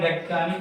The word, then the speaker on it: ज्ञ: हम सामान्य रूप से, लेकिन ये ज्ञ बोला जाता है हिंदी में, है ना। इसका उच्चारण ज्ञ है ना, इस प्रकार से होता है।